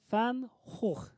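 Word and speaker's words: Van Gogh: 또 그 중에 하나가 반고 알아요, 여러분? 들어봤어요? 영어로 하면 반고지만 원래는 반 호흐. 호흐. 왜냐면 반고는 네덜란드 사람이었으니까. 네덜란드어로는 G가 흐 발음 나거든요.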